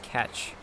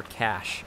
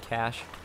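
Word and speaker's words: cache: what is below smuggers catch or cash I should say I think youd pronounce it cash I don't think there's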